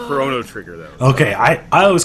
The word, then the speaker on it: Chrono Trigger: I know it's pronounced Chrono Trigger though okay I I always call it Chrono but I know it is Chrono because it's like time you know like yeah